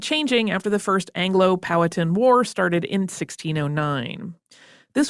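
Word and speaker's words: Powhatan: the colonists as potin also heard that pronounced a couple of different ways including exactly how the emphasis goes in powatan or I heard someone say it patan and I was like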